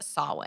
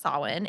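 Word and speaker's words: Samhain: actually originates in a Celtic spiritual tradition called solid and if you see it spelled out it's Sam Hein so but it is pronounced solid and it's celebrated from October 31st to November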